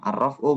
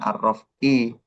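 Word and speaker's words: الرفع: Kalau kedudukannya sih walil af'al ini namanya khabar muqaddam arrofu mubtada muakhar. Maka dibacanya arrofu bukan arrof'i bukan minalik tapi minzalika koma kayak gitu ya.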